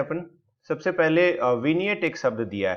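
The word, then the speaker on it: vignette: किया होता है उसे विनियट बोला जाता है, कि वो उसमें कोशिश होती है कि पूरी की पूरी किताब को समझा दिया जाए। इसका जो प्रोनाउंसिएशन है वो थोड़ा सा अलग है।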